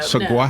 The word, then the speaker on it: saguaro: I think the G it might be silent, like lasagna. Like lasagna. It's nothing at all like lasagna. But the G is silent.